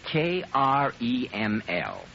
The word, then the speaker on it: Kreml: It's called Kreml Hair Tonic.